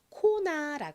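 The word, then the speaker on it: Kona: 이름이죠 어떻게 읽으면 될까요 먼저 K 키 소리 나죠는 한국식으로 보통로 표기하고은 니은 소리 그리고 a 한국식으로 보통 아로 표기를 하죠 그래서 코나라 씁니다 코나는 하와이에 있는 휴양지의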